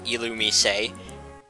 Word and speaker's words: Illumise: illumise a which is a weird way to pronounce that pokemons name but it is called alumi say at least if we're going by the anime